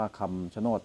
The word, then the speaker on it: คำชะโนด: ชะโนด นะ ครับ ผม ด้าน ล่าง อ่าน ว่า คำ ชะโนด นะ ครับ ดู ผ่าน